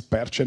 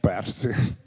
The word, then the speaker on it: Perci: In Italian it's Perci, not Percy, to simplify.